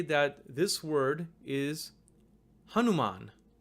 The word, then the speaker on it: Hanuman: the letter na, but because you have the VIRÄMA there, it's actually read as n. N, not na, but n. It omits the vowel sound that's there.